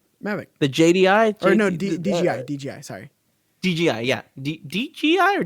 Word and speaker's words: DJI: The Wait, your screen Yeah, popped DJI. in and out. DJI. G. It's a G. J. It's a J. J. You keep saying G. But that's how it's pronounced. DJI.